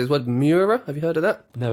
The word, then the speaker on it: Mura: Mura?